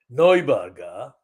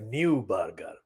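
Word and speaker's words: Neuberger: the Supreme Court David noiberga but it is spelled n-e-u b-e-r-g-e-r so it's like new burger versus pronounced noiberg as I understand the pronunciation and these are the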